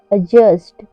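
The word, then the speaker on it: adjust: जे यू एस टी अजस्ट एडजस्ट में भी D silent है क्योंकि यहां पर जे से पहले डी आया हुआ है एडजस्ट टेबल एडजस्ट टेबल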